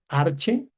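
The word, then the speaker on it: ἀρχῇ: Arche porque no se no pronunciamos la yota suscrita.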